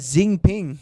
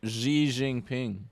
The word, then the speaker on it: Xi Jinping: election for another term you'll know that that's not how you pronounce that Zing ping Oh I thought people called them Winnie the Pooh yeah if I don't say that we're gonna get demonetized you know when I found out it's like Xi Jinping there okay I I've